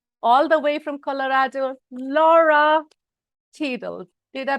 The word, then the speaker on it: Lora: coming your way all the way from Colorado Laura tables did I pronounce that right you did it perfectly thank